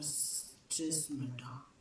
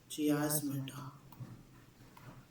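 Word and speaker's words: chiasmata: इसको ये बोला जाता है सिस, एक सेकेंड ना, सिस्मेटा, अलग लिख दिया स्पेलिंग। क्या बोला जाएगा इसको, चियास्मेटा बोला जाता है इसको।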